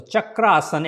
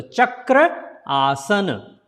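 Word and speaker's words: Chakrasana: will pronounce Chakraasana because this A and this A comes together to form big sound.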